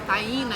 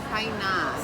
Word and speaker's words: Taína: Aí vou colocar um acento ali para eu entender que é Taína e não Tainá.